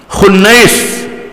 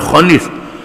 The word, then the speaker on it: Khunais: Yang ketujuh di kalangan Bani Saham, Khunais, bukan Khunis, Khunais bin Huzaifah, Khunais bin Huzaifah, Huzafah, Hafsah binti Umar.